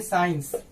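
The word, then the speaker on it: science: क्या पढ़ेंगे, इसको पढ़ेंगे यहाँ सी साइलेंट हो जाएगा। साइलेंट का मतलब लिखा उसको प्रोनाउंसिएशन नहीं करना है। ठीक है, तो इसको हम लोग पढ़ेंगे साइंस यानी विज्ञान।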